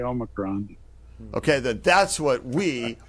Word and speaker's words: Omicron: I say Omicron. Okay, then that's what we are going to say, Jess. Omicron.